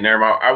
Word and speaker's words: Nirm: Oh, no, that's how you say it, Nirm.